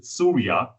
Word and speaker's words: SURIA: It's Surya, Suicide Research and Innovation Academy, SURIA, which is Surya, the word Surya.